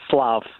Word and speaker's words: Slav: Is it Flav, as in Flavor Flav, or is it Flav? It's actually Slav. Slav with an S?